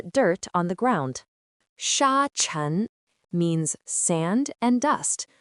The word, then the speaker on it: 尘: Its pronunciation is chun. Let's guess what this character means. Hm. What could very small earth be? Haha, you must have guessed it. Chen means dust, dirt, or tiny particles.